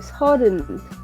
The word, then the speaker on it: 서른: Esta O que está acá no es una O como diciendo oso. ¿Listo? Es una O un poco más abierta. Se dice 서. Si se dan cuenta, prácticamente al final de la palabra yo estoy intentando pronunciar una A, pero como que digo una O. 서. Y como que se me va el aliento, ¿verdad? Porque es una vocal abierta.